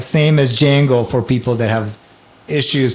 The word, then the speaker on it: Django: It's like same as Django for people that have issues pronouncing it. So what you have in DJ in my name or Django's name it's pronounced J.